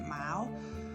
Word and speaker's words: Miao: at this point um i think you pronounce it mao there's like a tribe